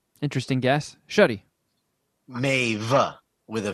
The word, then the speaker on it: Maeve: let's see if either of you are correct Maeve it's from an old Irish name Maeve the